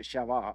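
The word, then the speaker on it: Beersheba: I think the Jews Hebrews pronounce it shavah or Sheva Shiva Sheva and um and well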